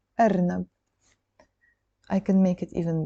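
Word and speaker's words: أرنب: So this is the Alif, Ra, Noon, B. Arnab.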